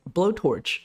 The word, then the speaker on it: BoTorch: understand way let's go blowtorch is a pie torch library for bayesian optimization research it's actually pronounced as blowtorch as described here in the docs in statistics bayesian probability